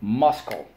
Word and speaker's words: muscle: in a second okay we say muscle but we spell it muscle okay so let's go mus co muscle and it comes from latin and i'm not going to explain it because you are going to look up the etymology first syllable mus second syllable co but we have two things to mark up on the line the c and the silent e twice job number four every